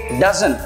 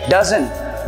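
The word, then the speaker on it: doesn't: इसको हम प्रोनाउंस करेंगे डजंट. यस, डजंट. जैसे कि आपने देखा भी होगा बहुत सारे लाइक जो बनानास होते हैं तो बनानास हम किस में खरीदते हैं? डजन में. यस, तो हमको वही प्रोनाउंस करना है.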